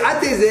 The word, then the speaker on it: ATEZR: Mais non, là c'est ATZer, là, vous avez la marque ici je crois. Attention, ça s'écrit A-T-E-Z-R.